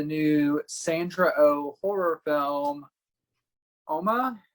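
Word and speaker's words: Umma: sandra oh horror film oma i want to say uma because that's not how they say it it's korean for mother and it is uh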